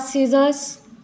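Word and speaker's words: scissors: होता है उसके बाद सीजर्स जो डॉक्टर लोग यूज करते सीजर्स यहां पर य सी साइलेंट होता है नेक्स्ट हम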